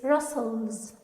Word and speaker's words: rustles: each step he takes as we said in class that the sound is silent here it's russell's paragraph three approaching the